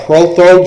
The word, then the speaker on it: Prothro: You'll see an exit called Protho Junction. I know that sounds funny, but it's spelled Prothro. Prothro.